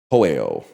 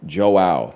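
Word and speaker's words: João: You say it like Joe. Okay, I was going to say Hoeo. So Joe is Joao. Joao. Much better.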